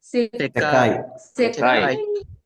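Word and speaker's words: 世界: Sekai.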